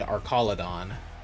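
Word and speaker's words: Archaludon: We have Gengar, Blaziken, and Arcaladon. Still does not sound right to me. It sounds so wrong saying that. But that's the correct pronunciation, apparently.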